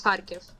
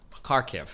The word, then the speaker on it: Kharkiv: Yeah, are these like only happening like in the east in is it Kherson, or how do you pronounce this? You mean like my hometown is Kharkiv. Kharkiv.